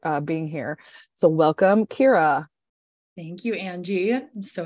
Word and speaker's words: Ciara: always tell people is it's pronounced like Keira Knightley but the nightly silent but the nightly flat Kira fan low her and